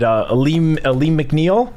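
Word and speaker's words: Alim McNeill: going up against, Aiden Hutchinson on the inside, Aleem McNeil. Is that how you pronounce it?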